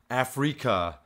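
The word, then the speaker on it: Afreaka: This one is called Afrika, off of the album The Sixth Sense, but it's spelled A-F-R-E-A-K-A. So it's like Africa, but with freak in the middle.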